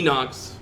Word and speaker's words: Inox: all right is this is this pronounced Inox I think it's Inox all right could be enox Inox both ways the idocks are A